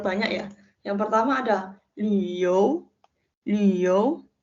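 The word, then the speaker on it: 六: Yang pertama ada liu. Liu. Di sini li dibacanya bukan lu ya, tapi li. Li cara bacanya adalah bibir kita seperti u, tapi yang keluar adalah huruf i.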